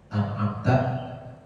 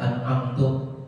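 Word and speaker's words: أنعمت: Misalnya an'amta dibacanya an'amtu, minta dengan mendomakan tak. An'amtu atau kasrah taknya an'amti, batal betul sholatu dia, maka batal sembahyangnya dengan bacaannya itu.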